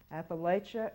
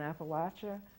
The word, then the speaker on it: Appalachia: with the British rule Appalachia and Appalachia work exactly the same way Appalachia is the pronunciation of condescension the pronunciation of the imperialists the pronunciation of people who do not want to be associated with the place and Appalachia means that you are